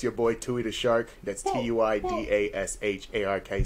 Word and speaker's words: Tuidashark: It's your boy Tui-DA-SHARK. That's Tuidashark. Spell that shit right.